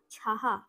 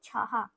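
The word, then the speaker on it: छह: ছয় টাকে আমরা বলবো ছাহা ছ আর বিসর্গ তাহলে উচ্চারণটা হিন্দিতে হবে ছাহা এই যে তিন লিখেছি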